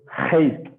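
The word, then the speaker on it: Het: what you will do, you have to spit it out, right? Then you have to spit it out. So similar way, you have to say it, hate, hate.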